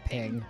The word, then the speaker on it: PNG: about ping vs png png is stupid i it's ping yeah it's what it's called and it's easier to it's less syllables it's like saying jpg